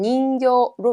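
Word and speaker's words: 人形: 닝 발음 읽어주고요. 뒤에 인형 발음 닝교로 외워주시면 되겠네요.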